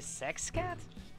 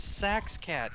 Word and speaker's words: Saxcat: Yeah, you could join in with me and Saxcat if you want. With who? Never mind. Did you say sex cat?